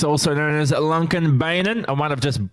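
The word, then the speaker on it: Lånkebanen: then they told me the correct way to pronounce it is lung convenor but they also told me that everyone just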